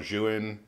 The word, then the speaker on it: Zhiyun: The Zhiyun, or Zhiyun, those are the only two pronunciations I've heard that come close to actually being what they're supposed to be. From what I understand, from Potato Jet, it's actually called Zhiyun, so that's what I'm going to say.